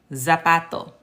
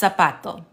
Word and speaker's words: zapato: get away with saying zapato. It's the word for shoe. So if they let you say zapato, that's not correct. It's going to be pronounced zapato. Zapato. This Z is pronounced like an S.